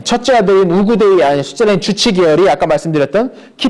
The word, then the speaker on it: 우구데이: 우구데이, 셋째 아들이었던 우구데이. 예전에 이걸 오코타이 뭐 이렇게도 불렀는데 몽골식 발음으로 우구데이가 몽골식 발음에 좀 더 가깝답니다.